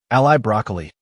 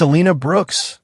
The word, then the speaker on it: Alina Brooks: Welcome to GDA, Cadet, Ally Broccoli. The automated welcome kiosk flickered as it butchered her name, its holographic interface glitching slightly. Species: human. Origin Earth: Akmiss Diva Initiv. It's Alina Brooks, she corrected, knowing full well the machine couldn't care less.